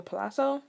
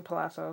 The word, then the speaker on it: Palazzo: at um the palazzo i pronounced it palazzo some people pronounce it palooza palooz yeah palooza who they pronounce it like something like that i pronounce the palazzo some people pronounce palazzo that's what i'm gonna call it so this is where